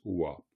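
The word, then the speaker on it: བ: Quand cette lettre pas est à la fin d'un mot, elle se prononce wa.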